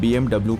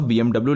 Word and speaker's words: BMW: में तो साफ साफ BMW लिखा हुआ है। हाँ, ये सच है, पर BMW एक जर्मन कार कंपनी है और जर्मन लैंग्वेज में W को V की तरह प्रोनाउंस किया किया जाता है।